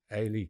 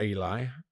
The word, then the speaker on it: Eli: Well, there is a born player, Ay Krooppy. Ay Junior Krooppy. It's not Eli. Um he's French. It's spelled Eli as we would say.